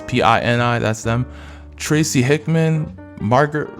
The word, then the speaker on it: Pini: I'm thinking of ElfQuest, the Peonies. That sounds really wrong when I say it like that, but it's Pini.